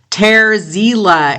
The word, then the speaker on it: Terziele: Ter Ziele, and it's spelled Terziele, and I'm going to play the track for you, This Mortal Coil.